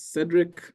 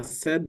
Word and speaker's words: Cedric: as Moren has said my name is Cedric uh saided is fine uh we can save one syllable um I'm going to